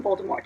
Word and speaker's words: Voldemort: wrong because a compressor in the first audio book he didn't call Baltimore it's folded Mort you called him a little more which apparently is like the right way to say it so I was like